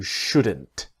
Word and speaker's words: should: The important thing is the L is silent.